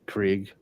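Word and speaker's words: Krige: epic concept design by Brandon Krieg am I pronouncing that correct Fortress of solitudes Brett k-r-i-g-e Krieg yeah it's a Craig Craig absolutely so so he has designed these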